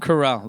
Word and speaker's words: Carell: Carell, that's how you say his name, yeah.